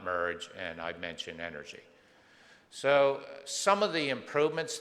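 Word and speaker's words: NRG: acon but most importantly it's pronounced energy oncology because of the great energy that we have uh if you look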